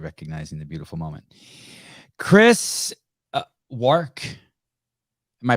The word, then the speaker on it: Wark: Chris Wark. Am I pronouncing it right? Yeah, okay. Wark rhymes with Work.